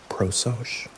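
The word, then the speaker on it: prosochē: Proos. The bridge between the morning's preparation and the evening's review is the momentto- moment practice of attention known as prooch pronounced pro.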